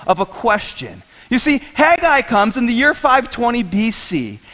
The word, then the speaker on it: Haggai: of Haggai right can we all say that hey guy we didn't all say that hey guy Aaron thought it was Hagee i but it is actually pronounced hey guys Steve can you say that hey guy there